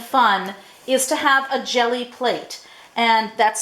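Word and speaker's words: Gelli: really easy and fun is to have a jelly plate and that's spelled g e lli these are mono printing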